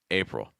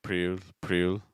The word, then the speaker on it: April: So for April, you want to watch out for that. Dark L sound at the end. A lot of students are doing like priul, and things like that. Sometimes even rolling the R like priul and things like that.